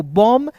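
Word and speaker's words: bomb: देखिए सी ओ एम बी को कॉम्ब बी ओ एमबी को बम टी एच यू एमबी को एमबी को थंब और डी यू एमबी को क्या पढ़ेंगे? डम पढ़ेंगे।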